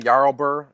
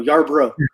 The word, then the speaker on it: Yarbrough: Is Ryan Yardbird? No, Yarbrough.